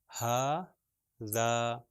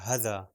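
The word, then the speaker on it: هٰذا: تو اس کا تلفظ ہوگا ہا ذا. اگر میں دونوں کو غلط تلفظ کروں تو ہو جائے گا ہذا، یا اگر میں ہا کو صحیح تلفظ کروں ملٹیپلائی بائی 2 2 حرکت تک کھینچوں، اور ذال کو جو ہے وہ 1 حرکت تک کھینچوں، تو وہ ہو جائے گا ہا ذا، جو کہ یہ بھی صحیح نہیں ہے.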